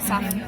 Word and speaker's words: saphenous: Saphenous, whatever.